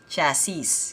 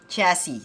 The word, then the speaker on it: chassis: If you can see, C-H-A-S-S-I-S. Kung babasahin mo siya, specifically yung word na yan, chassis, kasi may S sa huli. But let's try to listen how it is being pronounced. Alright? So, let's see. Chassis.